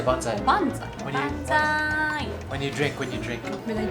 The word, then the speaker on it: banzai: Enough with my bonsai. How do you say bonsai? Banzai.